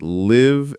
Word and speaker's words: live: how do you differentiate live and leave? Live has a short I sound.